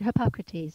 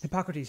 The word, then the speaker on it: Hippocrates: medicine let medicine be thy food that's it hippocrates hypocrites yes i wasn't saying i always mispronounced that name so i wasn't trying to